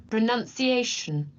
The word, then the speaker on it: pronunciation: so where everyone right and pronunciation this is none like you no like a religious figure like the movie the nun right a nun pronunciation right so whenever you get to this part remember nun just like that religious figure in pronunciation okay let me try